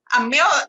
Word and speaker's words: Meryl: Meryl, that's two syllables and rhymes with peril, not pearl.